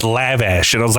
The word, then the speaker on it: lavash: the bread here's the funny thing I was pronouncing it and he was getting annoyed and he was like it's lavash and I was like no it's lavash see here's the funny thing though it's a